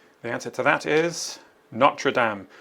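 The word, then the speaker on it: Notre-Dame: The answer to that is NRAAM. Don't say Notre Dame in French. It's uh NRAAM meaning our lady.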